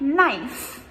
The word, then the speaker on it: knife: Now these are super tricky, both with spelling and pronunciation, because we do not actually pronounce these sounds. So, for example, a word like knife.